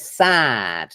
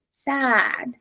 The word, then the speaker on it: sad: the long vow but funnily enough the examples tabita has given us is an example of one of the small number of words that is pronounced with the long vow ah okay so it's like